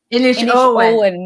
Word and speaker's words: Inishowen: Tell me if I'm saying this right. It's the Inishowen, is that right? Inishowen Mystery Series? Inishowen Mysteries. So I've been basically saying it wrong for a long time.